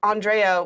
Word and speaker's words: Andrea: But what was really funny was that I only found out that Andrea was going to be cosplaying as her character like 2 weeks before the stream. Andrea, like mitochondria.